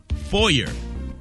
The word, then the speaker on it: foyer: We say these words wrong, such as, let's start with foyer. A lot of people get foyer wrong because you try to be fancy with it and you say foyer. The word is not foyer.